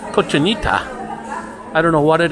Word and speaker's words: cochinita: I'm looking for a food that's called kojinta the correct pronunciation is cochinita I don't know what